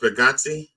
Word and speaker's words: Bargatze: John Oliver got an Emmy, and that one of the things that Nate Bargatze is pronounced Bargatze. Yeah, Bargatze. He says Bargatze.